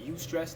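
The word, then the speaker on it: eustress: You want more of that you stress, that good stress, that you stress. It's spelled E-U, stress, but you stress.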